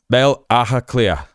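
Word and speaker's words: Baile Átha Cliath: And so this is spelled um bale a cleath, right? But you say it uh a clear and that's kind of like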